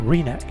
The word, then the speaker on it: Rynek: One of the focal points of the old town is the market square, pronounced Rynek or Rynek, which served as the heart of the town's commercial and social life for centuries.